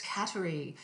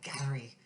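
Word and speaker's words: Kateri: So it's Cateri. And a Mohawk would actually pronounce it in a much more guttural way, like Gattery Tekakwitha.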